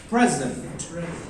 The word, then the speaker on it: present: When we represent it as a noun, its stress lies on the first syllable. You understood it? For example, आप कहेंगे, my friend bagged first position in his exam. I wanna give him a present.